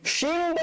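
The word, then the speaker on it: شين: শিন উচ্চারণ করার সময় শিন মুখ ভর্তি করে, মুখের ভেতরে উজাড় করে দিয়ে মুখটা একদম আওয়াজে মনে হয় মারামারি করতে থাকবে। আপনার এই গাল থেকে ওই গাল, উপর থেকে তালু থেকে নিচের জিহ্বা, ওরা মারামারি করতে থাকবে, মানে আওয়াজকে জায়গা দিতে পারবে না, এত জোরে করে উচ্চারণ করবেন।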